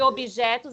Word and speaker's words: objetos: E Lembrando que objetos é com B mudo, tá? B mudo? É objetos, o B é mudo.